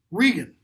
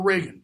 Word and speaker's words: Regan: Regan, or Reagan, depending on how you want to pronounce it.